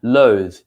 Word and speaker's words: loath: a verb all right so to recap we say loath the short one without the e we use it as an adjective i'm lost to do